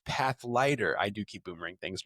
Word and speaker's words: Pathlighter: I keep calling it Pathfinder. It's path lighter.